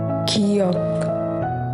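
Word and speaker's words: 기역: Kiok. Its pronunciation is like K or G sound. It sounds more like between K and G sound.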